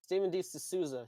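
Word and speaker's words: Steven E. de Souza: you ask um this movie was directed by stephen e de souza i believe that's how you pronounce his name yes stephen d souza he is best known he's more he's better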